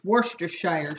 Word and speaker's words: Worcestershire: teaspoons of Worcestershire sauce I always have a hard time saying that I don't know about you but anyway it's Wurster Shire sauce I think is a correct way to say it so I'm going to